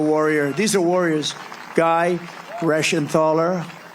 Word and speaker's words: Reschenthaler: Guy Reschenthaler. That's the hardest name in the Senate to pronounce, but I've learned how to pronounce it.